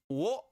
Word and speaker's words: を: This can be pronounced wo, as in what. Or it can be pronounced or. Generally, you'll find it as pronounced as or, as in like the very first, like the fifth, like or, just the or sound, no W sound, such as boku wo tsurete, like yeah.